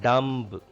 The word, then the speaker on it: dumb: It is not dumb. Dumb. B is silent here.